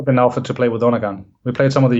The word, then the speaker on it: Undergang: I mean, in America we would just say Undergang, but how is the correct way of saying it? Oh, we say Undergang.